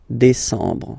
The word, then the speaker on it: décembre: Same thing. EM en décembre. Okay, so let's repeat them. Juillet. Remember this. Juillet. Août. First option. Août. Second option. Septembre. Octobre. Novembre. Décembre.